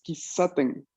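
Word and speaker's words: 喫茶店: Es porque esto es kisaten. Kisaten. ¿No? Entonces tenemos dos S.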